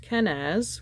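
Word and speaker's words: Kenaz: Mars I believe all right yes it is pronounced kenz which means torch it's the creation's fire with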